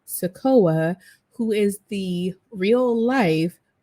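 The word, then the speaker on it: Sikoa: with the help of solo Sequoia sakoa I'm trying to make sure I pronounce it correctly solo sakoa who is the real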